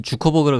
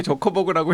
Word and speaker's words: 저커버그: 근데 왜 아저씨 아까는 주커버그라 그러더니 지금부터 저커버그라고 발음합니까? 아니 여기 저커버그라고 해서 저커버그가 맞지 않고 좋거나 좋거나.